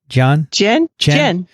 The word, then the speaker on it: Dian: And so that's where that other word that Kathy played for you, how is that pronounced? Jen.